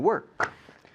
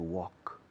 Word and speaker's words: work: you okay hasta luego all right to work work worked worked it's very easy job it's